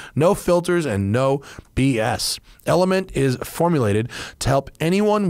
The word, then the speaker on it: LMNT: in part today by element it's pronounced element but it's spelled lmnt because it's techie right